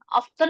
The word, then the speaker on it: often: Yes, I ever use because sometimes Gojek or Grab often atau often sih itu bacanya, Miss. Often. Often. Often. Apa pakai T? Enggak usah.